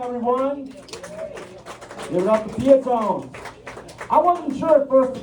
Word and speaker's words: Peotone: Give it up to Peotone. I wasn't sure at first if I was going to pronounce the name right. It's Peotone, not Peotone, right? Because pew pew, that's more of a Chicago thing.